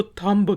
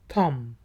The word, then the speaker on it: thumb: मैंने देखा है कि बहुत से लोग इसको तांबा कहते हैं तांबे इंप्रेशन लेकिन योग तथा आम इंप्रेशन आखिरी जो बीज है वह साइलेंट है अंगूठे को कहा जाता है थम थे वर्ड है tomer600